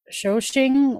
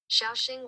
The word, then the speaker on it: Shaoxing: Shoshing wine? What, how do you pronounce that one?